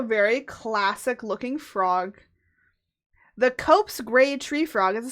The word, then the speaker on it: Cope's: Wait, no, I'm saying it wrong. Cope's gray. Okay, it's not corpse.